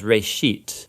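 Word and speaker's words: בראשית: of it's called Genesis Genesis comes from a Hebrew word it's pronounced race sheet and it just means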